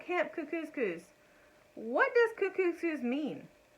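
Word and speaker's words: Kookooskoos: camp anyway welcome to camp cuckoo's coos it rhymes with moose that's also another good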